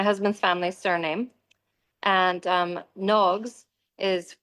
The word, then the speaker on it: Nogs: And um Nogs is it's a Irish word and it would actually be pronounced NOGS because of the fod over the O.